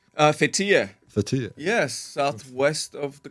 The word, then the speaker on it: Fethiye: From, am I pronouncing this correctly? Fethiye? Fethiye.